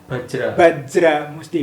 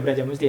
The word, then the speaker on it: Bajra Musti: Sebenarnya ejaannya Bajra Musti bukan Braja Musti ya.